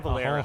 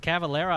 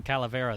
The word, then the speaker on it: Cavalera: Is it Cavalera? I've been calling him Calavera this whole time. I think it's Cavalera. That's how I've always pronounced it, but maybe I'm wrong.